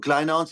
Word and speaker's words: Kleyhans: Uh, spell that again for us, Jack. Yes. So, it's my name is Kleinance.